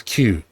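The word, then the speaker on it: Qos: As you can see up here up here, there's various different spellings of it, but the way it's pronounced is Q.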